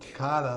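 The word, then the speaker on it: Tuk'ata: Takata, that's how you pronounce it.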